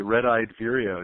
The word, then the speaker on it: red-eyed vireo: have a nickname and I'll try and pronounce it for uh correctly red-eyed Vireo is that correct yeah and yeah where's our